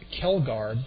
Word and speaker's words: Kjeldgaard: Batting sixth is the left fielder, number 33, Brock Kelgard. The last name is spelled Kjeldgaard. The first J is silent, the first D is silent.